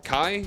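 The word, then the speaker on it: Chi: So all of them are the Seeker of Darkness Saga except for Kai? Is that how it's pronounced?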